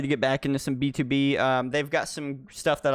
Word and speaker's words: BTOB: BTOB, if I remember right, that's how you pronounce it. The T-O is not T-O, it's two.